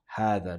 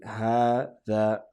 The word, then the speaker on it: هذا: This word is referred to as هذا. That's how it's pronounced, okay? We say هذا, هذا, هذا.